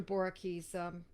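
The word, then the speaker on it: Boericke: Boricki's Materia Medica. Boricki is spelled Boerike.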